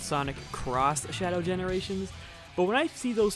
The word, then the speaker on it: Sonic X Shadow Generations: You can try to convince me that's supposed to be pronounced Sonic Cross Shadow Generations, but when I see